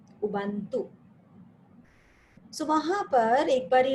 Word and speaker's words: Ubuntu: I don't know whether U is silent or if we speak about it, but the spelling is UBUNT and it is U, Ubuntu.